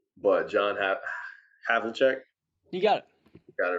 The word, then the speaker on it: John Havlicek: Number 7, I have a hard time pronouncing the name, but John Havlicek.